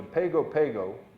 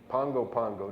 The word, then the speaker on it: Pago Pago: going to go to pago pago pongo pongo depending how you pronounce it american samoa has